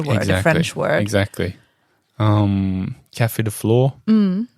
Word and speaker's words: Café de Flore: Café de Flore rhymes with for sure.